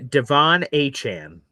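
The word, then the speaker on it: De'Von Achane: Uh, Devon Achan. Devon Achan.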